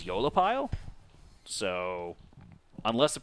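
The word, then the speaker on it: aeolipile: So I'm saying Eolipile because when we were on the Google last night and we typed in a pronunciation guide, because I had no idea how to say it, when I made the video, thought it was Aelipile. Can you shift the... Apparently the pronunciation is Eolipile.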